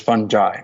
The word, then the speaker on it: fungi: Uh but English speakers uh the standard pronunciation is fungi with a J.